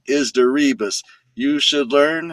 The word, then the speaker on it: DeRibas: It rhymes with that song. D E R I B A S. The name is Derebus.